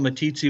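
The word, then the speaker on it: Meeteetse: too yeah um but you almost had it right but it's a little a little town called matitzi wyoming sits about 30 miles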